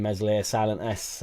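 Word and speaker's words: Meslier: wouldn't be better than mesle silent s uh unfortunately does the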